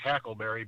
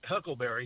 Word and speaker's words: huckleberry: pronounced it wrong, because I think it's supposed to be pronounced hackleberry, because on the caskets back in the day, they called the handles hackles. So when he said, "I'll be your huckleberry," he mispronounced it.